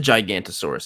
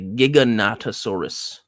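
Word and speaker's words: Giganotosaurus: squeeze in um the It's not the Gigantosaurus. I've been saying it wrong this whole time. It's the Giggonatasaurus.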